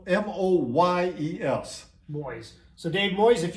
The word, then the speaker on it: Moyes: Dave Moyes, and it's spelled M-O-Y-E-S.